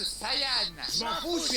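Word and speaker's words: Saiyan: chose que tu perdras prince des saillants ça se prononce sayyan je m'en fous je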